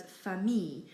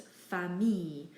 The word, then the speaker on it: famille: Words in French that have an I and an L aren't pronounced il. We simply pronounce it as E. So people very commonly mispronounce the word famille and they try and say it as famille or something like that. But really it's just famille.